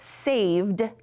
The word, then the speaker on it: saved: t so i know that saved has the d sound but i don't want